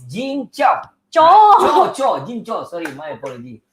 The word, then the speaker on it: Kyaw: How do you pronounce it? Cho. Cho. Okay, I always Yes. call it cow.